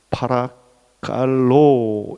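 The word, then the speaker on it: παρακαλῶ: 권하노니라는 헬라어는 파라칼로 이렇게 발음합니다.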